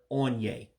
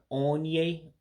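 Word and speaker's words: onye: start with the word Aun-Yea. Aun-Yea. And again, that's that O with the dot underneath that gives like an aw sound, like auto. That's why you hear me saying On-Yea, On-Yea.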